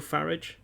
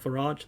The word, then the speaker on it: Farage: speech on immigration Nigel farage because apparently that's the English pronouncer not farage that'd be the French one farage he hates it